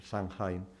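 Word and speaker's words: Samhain: lo que ellos denominan el sanen que es el el el sanhe lo pronuncian así normalmente aquí eh que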